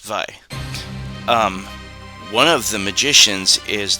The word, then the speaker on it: Vay: See, it's pronounced Vi.